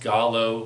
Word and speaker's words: giallo: Opera is directed by Italian horror master Dario Argento, and it is I believe it's pronounced Gallo horror film.